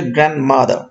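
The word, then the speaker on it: grandmother: একটু বলে দেখেন, একটু ফাস্ট, দ্রুত গতিতে বললে গ্র্যান্ডমাদার, ডটা আসে না, ডটাকে এখানে আসলে উচ্চারণ করার সময় অটোমেটিক্যালি উচ্চ থেকে যায়, এটা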